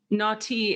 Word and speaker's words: Nau T: Naughty is spelled how? N-A-U space T. Sis, like sister, Naughty.